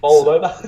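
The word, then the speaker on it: Bolsover: It's over here in Bowles Over Street. Is that how you pronounce that? Bowles Over. Yes. Bowles Over. Bowled over. Bowled over, yeah.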